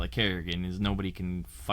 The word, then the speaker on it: Carigan: Oh, nobody can say my name either. Pisses me off. It's not hard. You spelled it really easily. The only difference is you didn't add two Rs.